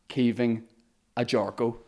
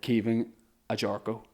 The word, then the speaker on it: Caoimhin Agyarko: My guest this week is Caoimhin Agyarko. Right or wrong? Perfect, yep. Perfect pronunciation.